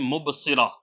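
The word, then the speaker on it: مبصرہ: अगला नाम है जो कुरान करीम से लिया गया है लड़कियों के लिए, वो नाम है मुबस्सिरा। मुबस्सिरा, मीम, बा, सॉद, रा और हा। आप इसकी स्पेलिंग दुरुस्त जो है वो स्क्रीन पर देख सकते हैं, इंग्लिश में भी और उर्दू में भी।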